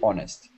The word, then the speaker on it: honest: UK proper British English should be without pronouncing the the hes yeah so you should say oh that's very honest not okay well that's okay